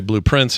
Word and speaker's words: Blue Prince: So when we say blueprints, it's spelled like P R I N C E and the color blue, but you're supposed to think blueprints, like these rooms are a part of a blueprint.